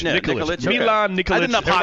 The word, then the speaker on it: Nikolic: Yeah, Nikolic.